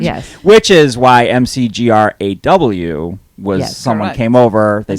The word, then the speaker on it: McGrath: so our name is m-c-g-r-a-t-h in ireland that's pronounced mcgraw but most people say mcgrath would you agree most